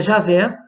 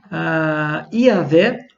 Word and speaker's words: Yahweh: Nós também temos aqui a pronúncia, se a gente fosse trabalhar aqui, seria Javé, Iavé ou Yahweh.